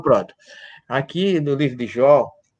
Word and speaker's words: Jó: Jó, em português é Jó. Ou Iov, em hebraico, ou alguns colocam Job.